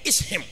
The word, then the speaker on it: Ishim: It's pronounced in the Greek word is him. But it's I-S-H-I-M.